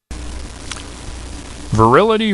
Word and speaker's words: virility: Virility rhymes with fertility. Unfortunately, it also rhymes with futility.